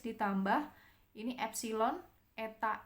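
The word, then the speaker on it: ε: Ini bacanya eta, ini bacanya epsilon.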